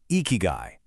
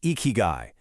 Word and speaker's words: ikigai: Well, a lot of people think it boils down to this one powerful concept, eeky guy. You say it like eeky guy and it basically translates to a reason for being.